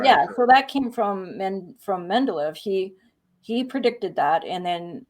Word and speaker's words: Mendeleev: Mendeleev. I always say his name wrong, so I always want to make sure I'm saying it right.